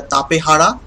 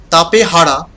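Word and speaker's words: Tapejara: safe from a circle next we have the tapehara well it means the old being it is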